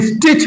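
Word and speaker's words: stitch: इसी तरीके से इसमें एस टी का यह साइलेंट होता है। स्टिच बोलते हैं।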